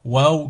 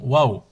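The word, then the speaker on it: واو: Waouh, comme l'exclamation Waouh.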